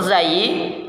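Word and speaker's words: ز: Huruf zai cara pengucapannya yang pertama ujung lidah diangkat ke atas sampai hampir menempel pada gusi dua gigi seri bagian atas.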